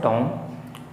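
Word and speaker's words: tomb: हम इसे टॉम पढ़ेंगे यहां एम के बाद बी आ रहा है इस कारण से साइलेंट हो जाता है इसी प्रकार से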